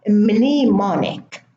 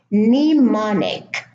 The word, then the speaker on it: mnemonic: The first word has a silent M at the beginning, mnemonic. It's not mnemonic. The M is silent, mnemonic.